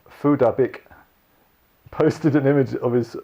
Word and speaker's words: Phuc Dat Bich: whose name is actually pronounced Phuc Dat Bich, posted an image of his after the tech giant banned him several times.